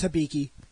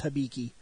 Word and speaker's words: Hibiki: Hibiki which hopefully that's the correct way to pronounce it concern how somebody shows up its Hibiki yeah I'm almost a hundred percent positive there's not a difference it's Hibiki Hibiki we say Rider that's technically wrong but